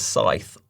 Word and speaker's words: scythe: But do you pronounce it as scythe or scythe?